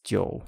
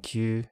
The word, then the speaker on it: 九: For pronunciation, the Middle Chinese ancestor of most modern pronunciations was kyo. This becomes jyo in Chinese, ku and kyu in Japanese, and ku in Korean. The Japanese also have their own reading of kokono, and the Koreans have aho.